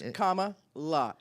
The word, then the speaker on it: Kamala: about comma K La that's how you say it K La just in case you're wondering it's comma and then La I think there's a